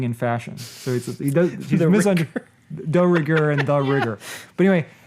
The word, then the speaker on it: de rigueur: gloves that he has to wear because they're the rigueur in New York City, which according to IMDb pointed out that he's actually mispronouncing de rigueur, which is the French word for being in fashion.